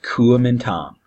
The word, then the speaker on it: Kuomintang: and I know that's a big word it's pronounced Kulemin tom and you'll see it sometimes spelled differently don't worry about that just know that it's the Kuomintang is a nationalist group it's soon a sense